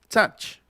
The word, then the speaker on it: touch: Entonces, nuevamente, by, but, touch. Otra vez, escuchen. By, but, touch. Es una vocal intermedia, ¿no? Está como entre la A y la O.